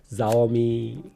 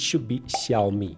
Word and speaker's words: Xiaomi: We’ve heard it all: Zaomi Caomi Shayomi iksiaomi. In Chinese, the ‘X’ is pronounced like a soft "sh" sound. So, it’s “shiaomi.”